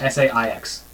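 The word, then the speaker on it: Saix: S-A-I-X. Sai? You don't pronounce the X?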